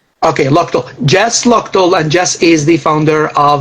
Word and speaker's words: Luchtel: do you pronounce it it's pronounced lual Lal I was calling you okay oh yeah yeah that's very common okay loal Jess loal and Jess